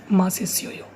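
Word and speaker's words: 맛있어요: Ma is pronounced different. This ma from here to here, and this S and this I are pronounced together. Okay, ma si. This S will go with here. Okay, and this SS will be pronounced with O. This SS will be pronounced with this O.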